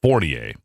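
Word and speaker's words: Fournier: Journal senior political colonist Ron fornier or fornier I guess it is it's pronounced fornier argued that if Democratic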